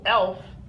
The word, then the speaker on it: elf: be an elf so elf is the number eleven in German spelled the same pronounced the same exactly the same but in German it's